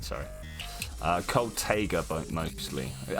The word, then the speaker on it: taiga: Cold Taiga mostly. So I read it as Taiga. I've been told to pronounce it as Tiger. I don't know which one to go with here.